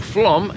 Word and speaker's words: Flåm: guys, and welcome to Flåm, or Flåm if you want to say it properly, which is a little